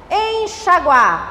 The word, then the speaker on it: enxaguar: Enxaguar. Em na frente. Chaguar.